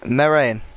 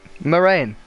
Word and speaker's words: Moraine: You pronounce it Moraine. Ah, like Moraine. Right. Do Moraine, as in like my rain, Moraine.